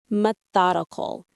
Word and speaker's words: methodical: Methodical. It means done according to a systematic or established form of procedure. It's orderly, logical, and systematic. Let's say it. Methodical. Methodical. Methodical. The stress is on the thought.